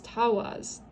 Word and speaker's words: Tiwaz: And it says the pronunciation is Tawaz.